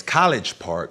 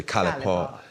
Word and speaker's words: College Park: I'm just from College Park. The G is silent. It's really enunciated as College Park, but the people where I'm from, they just say College Park.